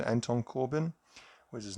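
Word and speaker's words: Corbijn: So this was done by Anton, I think it's Corbin is the pronunciation, Anton Corbin.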